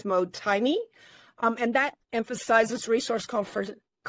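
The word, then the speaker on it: mottainai: It's called, I think it's how you pronounce it is motaini.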